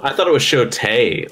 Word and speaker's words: Shotel: It's show-tell? I thought it was show-tay. Like, I was jokingly saying it wrong. Oh. Is it Shote? It's just S-H-O-T-E-L.